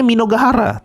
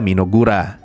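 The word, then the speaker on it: Mynoghra: Selama ini gua bacanya Minogahara, tapi kalau ngikutin animenya ternyata dibaca Minogura.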